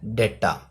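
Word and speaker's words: data: इसका क्या होता है, डेटा। हम बहुत सारे लोग हैं वो डाटा बोलते रहते हैं, डाटा नहीं होता एक्चुअली, इसका सही प्रोनाउंसिएशन क्या होता है, डेटा।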